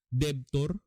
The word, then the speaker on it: debtor: Debtor ha, silent B. Yung debt, D-E-B-T, utang, debt, D-E-B-T, silent B ha.